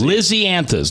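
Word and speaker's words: Lisianthus: lizy anthus Lizzy an Lizzie anthes like Lizzie bordon took an action all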